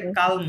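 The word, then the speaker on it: calme: ক আকার ম হয় ফরাসিতে কালম হবে ক আকার লয় মলময় ফরাসিতে এলটা সাইলেন্ট থাকে না ইংরেজিতে সাইলেন্ট থাকে ইংরেজিতে বলি আমরা কাল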